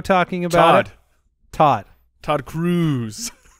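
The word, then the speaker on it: Todd Cruze: Todd Cruz. It's spelled C-R-U-Z-E. I think that's pronounced Cruz. Cruz. Todd Cruz.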